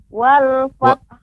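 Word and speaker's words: وَالْفَتْحُ: Wal fath. Wal fath. Bagaimana, Ustaz? Iya. Ya, wal fath, kemudian wal fath ditambahkan ha. Wal fath. Wal fath. Wal fath. Wal fath.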